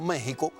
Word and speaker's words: México: la palabra por tanto méxico se pronuncia con jota pero se escribe con equis porque esa era la forma de hablar de los aztecas bueno si usted quiere